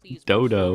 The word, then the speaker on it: Dodo: Why did you say it like that? Dodo. Dodo. There's O's in the Wow. name. There's no U's.